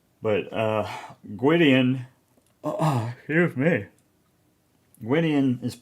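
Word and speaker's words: Gwydion: can correct me but uh Gyan excuse me wian is it's spelled g w y d i o n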